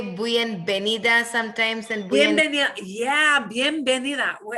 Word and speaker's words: bienvenida: So B's and V's will sound like B.